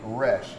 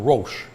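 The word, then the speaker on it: Roesch: was my name, and I was scared to tell the teacher that that's not how you pronounce my name. So I'd sit there and I'd raise my hand, and I'm Mr. Roche. All right. I'm really Mr. Resch.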